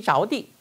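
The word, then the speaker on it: 着地: 량시 자오디 이 시가이더 시인데 시가 무릎이라는 걸 잡아야 되고요. 자오디 이게 뭐야? 땅에 붙다. 착지라는 우리나라 한자 착지한다고죠. 땅에 떨어지는 땅에 붙이는 거죠. 자오디입니다. 발음이 자오디 저자가 아니에요.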